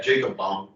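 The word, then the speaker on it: Jakob Böhme: Justin, how do you pronounce, Jacob Bohm? Is it Bohm? Remember that? Yeah, Jacob Bohm.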